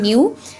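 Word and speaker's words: ν: और degree of freedom न्यू, जिसको NEU, इसकी प्रोनाउंसिएशन क्या है, न्यू।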